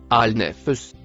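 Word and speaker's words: النفس: Le mot en rouge, se prononce, al-nefs.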